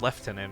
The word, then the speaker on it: lieutenant: the other one cuz the British one's like Lieutenant is pronounced left tenant or whatever right it's like hello